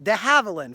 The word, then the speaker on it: de Havilland: They also brought with them how does the humble collector pronounce it? You are the 20th century. De Havilland, thank you very much.